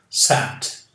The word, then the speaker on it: sat: Sat. Esse som é diferente de S-E-T. Aqui é como had, sat, e não set.